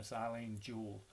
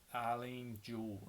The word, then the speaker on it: Eilen Jewell: like you wouldn't believe in a silane Jule I hope I'm pronouncing that right see I L he in so a little different but it's Eilen Jewell and it's miles to